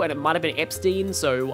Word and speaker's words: Epstein: I believe it's pronounced Epstein because that's how it's said in the... That's how the Japanese katakana are.